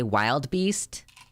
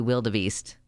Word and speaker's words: wildebeest: did he pronounce wildebeest did he say wild beast it's supposed to be wildebeest oh my God oh